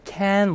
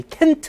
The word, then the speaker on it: can't: 네, 이것도 I can remember. 그죠? 이거 세게 읽어야 돼요. 이게 낫이 있으니까 세게 읽지만은 T를 터트리시면 안 돼요. 그러니까 I can't remember가 아니라 I can remember.